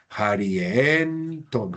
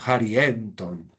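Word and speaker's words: χαριέντων: que si al lea si ya me quedan varias sílabas, cuatro sílabas, ja, ri, en ton. Entonces, como la si la última sílaba fuera breve, yo podría mantener el acento en la iota, pero proparoxito no acento se mantiene ahí si es breve, como es largo, me toca moverlo. Harienton, harienton, harienton para decir de graciosos.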